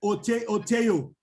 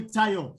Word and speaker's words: Tayo: Don't call me Oteyo. No, call me Tayo.